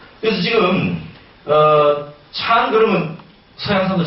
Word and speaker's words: 禪: 이건 일본말이죠. 중국 발음은 찬이에요. 찬입니다. 그래서 지금 찬 그러면 서양 사람들 잘 몰라요.